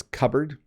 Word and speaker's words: cupboard: Another strange pronunciation. Um it's cupboard.